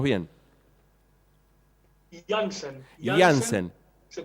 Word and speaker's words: Laenzen: Repetí, por favor, tu nombre, así lo pronunciamos bien. Jansen.